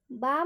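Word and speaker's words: balm: जैसे बाम में भी देखिए, बी ए एल एम, बाम की स्पेलिंग क्या होती है, बी ए एल एम, बाम। तो यहाँ पर एल एम है अंत में, तो एल एम का उच्चारण में एल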